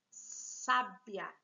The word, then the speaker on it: sábia: colocado na penúltima sílaba tem os aqui a mesma grafia mas não aceita o mudou de posição e virou sabiá é só por causa de um assento já não tô falando